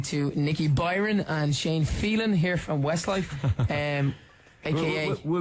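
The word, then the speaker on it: Filan: You know, when you give it to TV shows back 11 years ago when we started, it's pronounced Phelan, but like it doesn't really matter, you know, because I'm Shane from Westlife, really.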